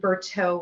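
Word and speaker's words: Bertoux: copper and kings and berto which is spelled b-e-r-t-o-u-x it sounds french but it's california it's french by way of california it's a modern aged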